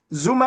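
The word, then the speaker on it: Xuma: Zuma is spelled X-U-M-A, not Z-U-M-A, like Jacob.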